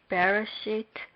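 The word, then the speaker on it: בְּרֵאשִׁית: We will be able to know what part of Bereshit bara Elohim is stressed. First, there is a stress on the last syllable of Elohim as it says on the board.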